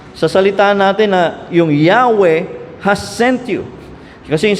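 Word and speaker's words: Yahweh: four letter y h minsan ang basa iba ay yahwe minsan pinipilit ng iba Jehova basa pero yahwe ang basa Anyway regardless kung ano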